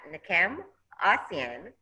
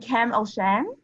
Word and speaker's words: Nkem Osian: university second we have nakam asean did i pronounce it correctly almost please correct me um it's oak and kem oshan master's in public health